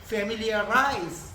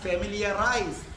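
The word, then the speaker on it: familiarize: തീരുമാനം ഒറ്റക്കെടുത്ത് ആരുമായും ചർച്ച ചെയ്യാതെ ഏകപക്ഷീയമായി തീരുമാനമെടുത്തു അടുത്തത് ഫെമിലിയറൈസ് നിങ്ങൾ ഫെമിലിയറൈസ് എന്നൊക്കെ പറയും ഉച്ചാരണം ഫെമിലിയറൈസ് ഉച്ചാരണ സഹിതം ഞാൻ വീഡിയോക്കകത്ത് കൊടുത്തേക്കും കണ്ടോ അപ്പൊ ഫെമിലിയറൈസ്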